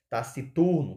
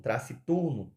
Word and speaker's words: taciturno: que era paroxitono paroxitono ela é paroxitona taciturno taciturno taciturno né a Cula mais forte tá aqui mas taciturno escreve-se com